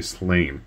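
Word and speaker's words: Sláine: from the slain game Slane however you want to pronounce it I heard Pat Mills say slain so I'm gonna go with his since he wrote the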